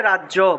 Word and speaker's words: রাজ্য: মনে করেন যে রাজ্য, বাংলায় বললে রাজ্য, কিন্তু সংস্কৃতে রাজ্য বললে হবে না, উচ্চারণ করতে হবে রাজিয়া। রাজ যোগ ইয়া, রাজিয়া রাজিয়া।